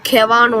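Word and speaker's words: kahwa: அவங்க வந்து அங்கே போய் வந்து பார்த்தீங்கன்னா அங்கே காஷ்மீரி கெவான்னு ஒன்று இருக்குது. Actually that they pronounce it like அந்த மாதிரி தான் கவா அப்படின்னு சொல்லுவாங்க.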